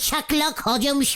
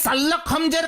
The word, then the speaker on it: শার্লক হোমস: তাহলে বলতো কাকে প্রথম বাঙালি শাকলক হজমস বলে? শাকলক হজমস? বাঙালি শাকলক লোক? বুঝেছি বুঝেছি, তুমি শার্লক হোমসের কথা বলছো, ওই সেই বিখ্যাত গোয়েন্দা। মানে হ্যাঁ, আমি বাঙালি উচ্চারণে বলেছি।